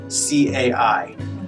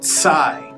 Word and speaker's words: Cai: Think about the word cats, and that sounds, so C-A-I would be like Tsai. Cai. Tsai.